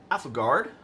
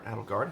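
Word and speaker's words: Aethelgard: So, um, Alphagard or Adgard, however you want to say it.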